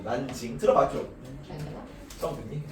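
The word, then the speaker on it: 南京: 남경을 한자로 읽으면 남경인데 그걸 중국어로 읽으면 뭘까? 한자의 남을 중국어로 난이라고 읽거든요. 그래서 난징이라고 얘기를 합니다. 난징 들어봤죠?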